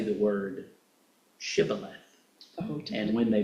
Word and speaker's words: shibboleth: Now, as it say Sibboleth, and they were going Shibboleth.